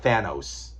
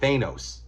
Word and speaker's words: Thanos: I think it's it's pronounced Thanos, by the way, not Thanos. Okay, Thanos. That's how Jim Starlin wanted it pronounced. He's the guy who created the character, so I'm going with him, Thanos.